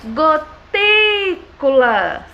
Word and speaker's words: gotículas: Gotículas. Qual foi a sílaba que ficou mais tempo eu pronunciando? Foi a sílaba ti.